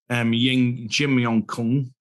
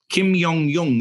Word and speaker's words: Kim Jong-un: North Korea and meet Jim Yong-kun. I've said that wrong. I had it actually right, and I said it wrong. I won't go back. I won't even try. Kim Jong-un, isn't it?